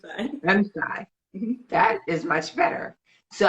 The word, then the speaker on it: M'Shai: Today we have special guest Michelle. Please tell me I'm pronouncing your name 100% correctly, and if I'm not, please correct me. You're like, no, it's Ugly. It's shy, but it's fine. I'm shy.